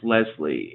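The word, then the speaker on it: Leslye: Leslie, and I'm assuming it's pronounced Leslie. It is spelled L-E-S-L-Y-E.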